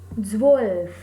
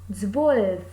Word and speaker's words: zwölf: 12, zwölf. Again here O has a umlaut, so the pronunciation is zwölf.